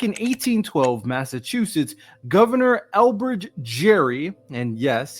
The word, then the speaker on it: Gerry: Back in 1812, Massachusetts Governor Elbridge Jerry, and yes, his name rhymes with scary, which is oddly appropriate,